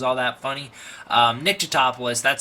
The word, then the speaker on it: Tatopoulos: So, we smash cut to Nick Tatopoulos or Topolis or however many ways they're going to try and pronounce it in an ongoing joke that I never thought was all that funny. Um, Nick toopoulos, that's how you say his name.